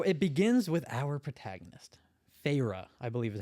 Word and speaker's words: Feyre: So it begins with our protagonist, Feyre, I believe is how you pronounce it. Feyre.